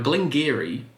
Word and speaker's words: Glen Garioch: even really talked about now Glenn Geary spelled garyock but pronounced Gary most people can access